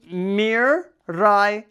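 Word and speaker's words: Miraidon: are going to do Mir Ron Mir Ron not Mir Miran Miran Mir ran Miron Miron scarlet and violet legendary Miron we're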